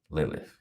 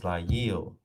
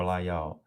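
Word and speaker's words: לַיִל: can't even pronounce it Lilith. You can't even, that's not what it, no, there's no Lilith there. It's Layil or Layal. There's no if at the end.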